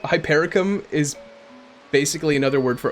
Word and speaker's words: hypericum: The Wanderer there were hyper ium oh God how do you say it again I keep getting thrown off hyper ium oh man hypericum yeah hypericum flowers um she said it